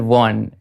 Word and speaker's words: Vaughan: See, Vaughan and Warne is always a good rhyme, isn't it? Yeah. It's easier to rhyme with Vaughan, actually.